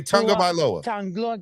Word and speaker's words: Tagovailoa: Yeah, and next time I'll pronounce very good that name. Say Tagovailoa.